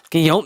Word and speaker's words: Guillaume: okay I'm interested again how you say his name again Robert no no give it to me again this way I'm handing it to you Guillaume that's how you pronounce that and Marla Gibbs you